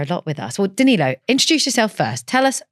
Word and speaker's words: Danilo: today the fantastic I'm going to say your name wrong Danilo no perfect right um Danilo is one of